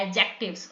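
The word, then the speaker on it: adjectives: हैं एडजेक्टिव्स कहलाते हैं डी साइलेंट होता है इसे प्रोनाउंस करते हैं एडजेक्टिव्स okay so match each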